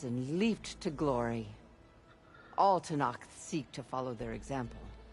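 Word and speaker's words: Tenakth: All Tanakh seek to follow their example. Well, they do pronounce the K.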